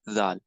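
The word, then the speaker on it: ذ: And next word, which is zal. Zal has to pronounce when this part of the tongue that strikes here, it got the same makharij as that of the sa.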